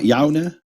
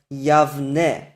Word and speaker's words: Yavne: Clearly it's not Yaune. Nehemiah Gordon's argument is this. We know that this name is pronounced as Yavne. It's spelled with a soft bait, and this is also the way it's written in the Tanakh. We know it's Yavne with a v.